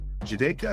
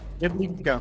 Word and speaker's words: Jedlička: And the one Jedlička. You can try one more time. Yeah. You We want J as like a Y.